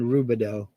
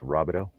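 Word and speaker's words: Rubidoux: flant isn't it pronounced robito uh we called it rubber ducks r o u b i d o u x you spelled it with u it's a French name yeah I was gonna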